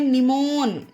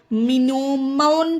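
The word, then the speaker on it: mnemon: चलिए देखते हैं एग्जांपल जैसे कि एम एन ई एम ओ एन तो इसे पढ़ते हैं निमोन अब देखिए यहां पर एम से वर्ड की स्टार्टिंग हुई है और एम के जस्ट बाद एन आया है तो यहां पर एम हमारा साइलेंट है इसे अगर आप मिनो मोन पढ़ेंगे तो यह गलत हो जाएगा गाइस इसे पढ़ते हैं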